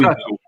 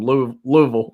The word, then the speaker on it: Louisville: My name's from Louisville. Yeah, that is Louisville. That's wild whenever people pronounce Ville as Bull.